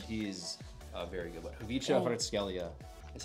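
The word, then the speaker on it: Khvicha Kvaratskhelia: Kvicha Hrtskelia is how you say his name.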